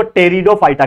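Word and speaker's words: Pteridophyta: is nothing but division टेरिडोफाइटा इसका P silent होता है इसके लिए इसको टेरिडोफाइटा कहते हैं पी टेरिडोफाइटा बोलते हैं तो इसमें क्या होता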